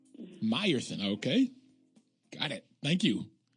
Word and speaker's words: Mierson: And on the phone today, we have Miss Sheella Mierson. Good morning, Sheella. Good morning. It's actually Mierson. Mierson, okay.